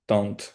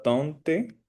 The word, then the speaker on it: tante: Tunt. Cuando hay una e después de la tuna, esa e, o sea, no se dice la tunte, sino que se llega hasta la t.